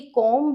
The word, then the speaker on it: comb: बहुत लोग इसे बुलाते हैं कॉम्ब, बट एक्चुअली ये कॉम्ब नहीं है, इट्स कॉम्ब। बी is silent.